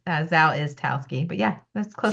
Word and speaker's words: Zawistowski: Yeah, the S is in the middle, so you already missed that. It's Zawistowski, but yeah, that's close it, your last name? Zawistowski.